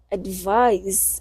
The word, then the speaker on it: advice: Advice and be close attention to the pronunciation. I said advice. Advise.